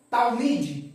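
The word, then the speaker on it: תלמיד: ó da niel Daniel aqui eu tenho a palavra talmid ó tal na verdade é aqui ó a sílaba ela para aqui ó tal tá vendo O cheva O cheva ele indica o término de uma sílaba então aqui ó tal mid ou seja Daniel é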